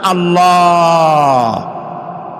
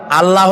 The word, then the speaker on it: আল্লাহ: আল্লাহর নাম আল্লাহ। বলেন তো আল্লাহ নয় কিন্তু আল্লাহ হচ্ছে অশুদ্ধ শুদ্ধ হচ্ছে আল্লাহ বলার সময় মুখটা